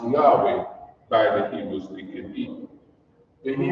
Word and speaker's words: Yahweh: represented by these four characters it is pronounced Yahweh by the human when he moved out foreign